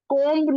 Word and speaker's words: comb: कोम्ब नहीं आता है, कोम्ब की स्पेलिंग COMB है, और उसमें बी साइलेंट है, ई कहाँ से आया वहां पर?